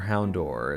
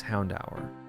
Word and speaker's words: Houndour: Pokemon fans out there Hound four sounds a lot like Hound hour or Hound door is how I pronounced it before I knew it was houndour all right do you